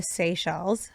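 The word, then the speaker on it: Seychelles: to Dubai and the Sey Shells. Did I say it right? You did.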